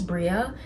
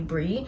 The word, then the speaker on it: Bria: I feel like I never say it in videos, but my name is Bria. I feel like people don't pronounce the A for some reason, and they just call me Brie.